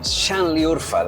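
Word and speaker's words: Şanlıurfa: And it's spelled with a broken s, gentlemen. Xhanliurfa. Chanliurfa, in fact, is pronounced, uh, a city where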